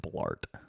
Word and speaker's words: Blart: have to name him Blart Paul Blart it rhymes with fart Blart fart it's like bloat and fart yeah combined bloated fart